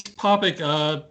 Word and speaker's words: Popik: are pronouncing your name correctly topic yeah its topic people misspell it all the time the New York Times